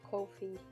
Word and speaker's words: Ko-fi: I heard some people pronouncing it Ko-Fi. Or Kofi. Or Kofi. I pronounce it Kofi, so...